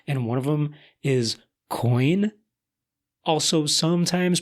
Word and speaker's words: quoin: few of them, and one of them is coin. Also sometimes pronounced quoin, apparently, according to the Oxford Dictionary.